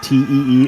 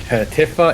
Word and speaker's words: Tifa: Tifa's name is not Teef.